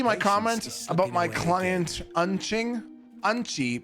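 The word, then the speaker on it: うんち: Did you see my comment about my client Unching? Unchi, pronounced unchi, means poop in Japanese.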